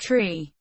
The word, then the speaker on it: three: differs from standard english being pronounced tree four five and niner the digit 3 is